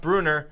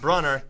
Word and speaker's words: Brunner: But he lost to Bruner, which is pronounced Bruner, not Brunner, even though it's spelled Brunner.